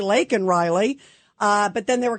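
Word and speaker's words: Laken Riley: her name and then he says Lincoln Riley he doesn't say lak Riley uh but then they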